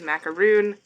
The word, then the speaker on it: macaron: you treat me kindly this is macaron who is pronounced as macaroon o Master attendant hello